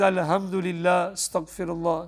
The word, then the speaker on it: alhamdulillah: well-being and he says alhamdulillah he's not pronouncing the the words properly he's supposed to be al hamdulillah same with the name